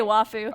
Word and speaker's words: waifu: Did Nico just pronounce waifu correctly?" That's true. You do say wafu.